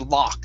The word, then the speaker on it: lock: that you're typing there is pronounced ah it's a lock the other one is look okay it's an uh sound this one is an ah okay a lock okay